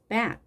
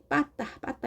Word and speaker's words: bat: 우리가 예전에 빠따 이렇게 표현했는데 이것은 일본식 발음이고요. 정확한 영어는 bat입니다.